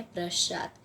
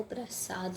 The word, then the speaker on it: प्रशांत: जो कि प्रशांत कि अक्सर लोग मैंने देखा है क्या अक्षर लोग प्रस्तुत बोलते हैं जो कि है प्रशांत है तो फिर उसका सही उच्चारण है प्रशांत याद कीजिए कि वह प्रसाद नहीं प्रशांत है तो फिर दूसरा शब्द